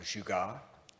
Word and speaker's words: jugaad: Some of you have heard me talk about this concept of jugaad. Jugaad is a Hindi term. It's spelled J-U-G-A-A-D.